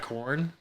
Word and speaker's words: Quorn: So, like, You ever had corn? I have corn. I'm sorry. The it's spelled QUORN.